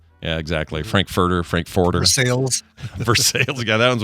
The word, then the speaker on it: Versailles: Cuz Versail, let me just say something. When you look at it and your first inclination is Versailles, how would you even get there? I mean, other than historic knowledge, otherwise you look at that and go, "Well, that's like Versailles or Versalis or some other shit."